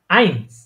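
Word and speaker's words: eins: তখন এটা হয়ে যাবে আইনস এটার উচ্চারণ কি হবে আইনস কারণ ই এর পরে কি আছে একটা আই আই আই আছে হ্যাঁ এবার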